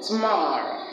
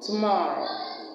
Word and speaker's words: tomorrow: We have that sound at the beginning of the words around, also, again, and at the first syllable of the word today, and the first syllable of the word tomorrow. Tomorrow.